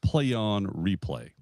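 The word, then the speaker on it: Plaion Replai: It's I got a funny way they spell it, but it's called uh uh a play on replay. Okay? P L A I O N replay is R E P L A I.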